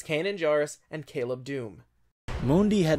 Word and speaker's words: Kanan Jarrus: a big mistake and stop pronouncing his name like you're trying to summon the tribal spirit it's kanan jarrus and caleb dume Mundi